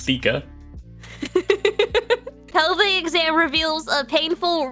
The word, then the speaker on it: theca: It's pronounced Theka.